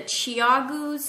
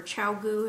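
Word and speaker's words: ChiaoGoo: more what I have the Chiago I have some of those or chiau if you want to say it correctly but uh the cable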